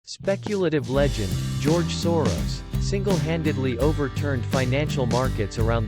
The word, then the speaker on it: Soros: George Soros was born on August 12, 1930 in Budapest, capital of Hungary, with the name George Soros, pronounced Soros, on his birth certificate.